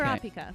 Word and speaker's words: Kurapika: Okay, and then correct me if I'm wrong on pronouncing it Kurapika in Hunter x Hunter. Yes, Okay. Kurapika.